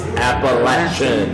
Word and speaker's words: Appalachian: it you better say it right there's nothing Appalachian in the it's Appalachian all right Appalachian State thank thank you fight